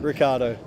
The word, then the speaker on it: Ricciardo: Ricciardo. It's Ricciardo. Second eye is silent. Silent, is it? Yeah.